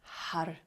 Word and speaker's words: Har: We're chanting the mantra Har, H-A-R. When you say the R, you're rolling your tongue onto the palate behind the teeth, so it almost sounds like Had. So Har is how we pronounce it.